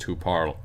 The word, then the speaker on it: tu parles: So it would be je parle, tu parles, and even though it ends with an S, it's still pronounced tu parles.